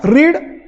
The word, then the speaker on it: read: आय रीड newspapers daily, पण आय रेड newspaper yesterday. जेव्हा me yesterday म्हणेल ना, तर मला ह्या शब्दाचा उच्चार रेड असा करायला लागेल.